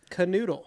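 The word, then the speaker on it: Knödel: Pronounces it canoodle.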